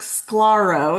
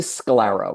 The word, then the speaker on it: Sklarow: Good morning, Mark Scolaro. Is that Did I say it correctly? It's actually scalaro. Rhymes with sclerero.